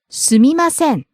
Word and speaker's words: すみません: すみません Excuse me. すみませんすみません Starts low, rises on me, drops at the end.